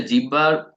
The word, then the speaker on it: জিহ্বা: আসলে জিহ্বার আসলে উচ্চারণটা কি জানেন? জিহ্বা না, জিহ্বা আমরা বলি না, উচ্চারণটা হচ্ছে জিহ্বা। ঠিক আছে, হ যোগ ব এর যে উচ্চারণটা, হ যোগ ব, ওইটার উচ্চারণ হয় জিহ্বা। ঠিক আছে, যেমন আহ্বান, আমি আপনাকে আহ্বান করছি, আউ ভান করছি, ও আর ভ দিয়ে এটা রিপ্লেস হয়।